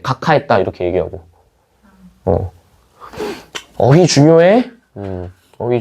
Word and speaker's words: 각하: 각하 이렇게 발음하죠. 이유는 앞에 있는 기역과 뒤에 있는 히읗이 만나서 뭐가 돼? 키읔이 된다 이런 얘기예요.